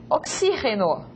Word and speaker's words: oxígeno: Oxígeno. Diferente de português, oxigênio. A palavra oxígeno lleva tilde.